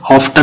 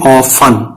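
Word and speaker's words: often: ऑफन में T silent रहता है, ऑफ्टन नहीं बोलेंगे, ऑफन।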